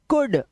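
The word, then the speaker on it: could: वुड जैसा शाड क से बना कुड। व से बना वुड। देखो डब्ल्यू और वी दोनों को हम क्या उच्चारण करते हैं?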